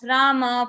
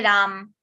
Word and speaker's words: Rama: popular from Hindi language in Hindi language we say Ram but that is not half in Sanskrit if you pronounce it correctly so that is Rama Ma has are included it is included that's why in English when we pronounce that a little bit English accent also and second that is correct correct is Arjuna and Rama that is only that